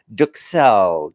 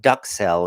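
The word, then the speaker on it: duxelles: the wellington is the duke cell duke cell not duck cell as i was pronouncing it so i use my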